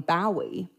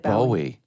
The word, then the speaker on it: Bowie: David Bowie. Bowie. I thought you said Bowie. A lot of Brits say Bowie.